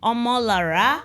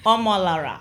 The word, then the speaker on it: Omolara: I don't want to pronounce it wrongly. So could you please help me? Omola. You're right. Spot on. Omola.